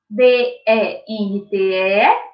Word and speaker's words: dente: O dente se escreve com o E no final, só que o E vai ter aí o som da letra I.